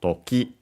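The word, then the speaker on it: 時: in our case toki, on its own, accent on the final syllable, on the last more, so toki, means time, hour, moment, also by extension occasion, case, and so on.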